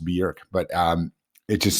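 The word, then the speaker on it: Björk: It's not Bork. Everybody pronounces it Borc, but it's actually Berkc. It's pronounced Berkc.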